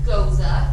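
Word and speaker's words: gose: So this is our blood orange goza. That is how it is pronounced.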